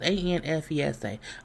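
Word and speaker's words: Anfisa: So we know that he was married to, and I'm going to probably pronounce her name wrong. Is it Afisa? Infisa? I don't know. It's Anfesa.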